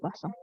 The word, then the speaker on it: Poisson: Bacanya pakai eng ya, distribusi Poisson.